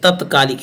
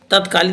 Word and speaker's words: तात्कालिक: बड़ी बात नहीं देखिए तत्कालिक इसमें आपको करेक्ट करना है तत्कालिक नहीं तात्कालिक होता है लोग गलत कर देते